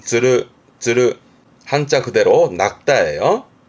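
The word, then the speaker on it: 釣る: 발음은 쯔르.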